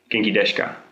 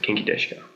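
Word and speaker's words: 元気ですか: this geni desuka but actually it's more like kinky deska kinky deska that's like the way to pronounce it kinky deska in Chinese ni means hello and if you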